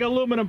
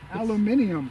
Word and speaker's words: aluminium: up north okay big aluminum plate aluminium aluminium as the british say cheerio listen to that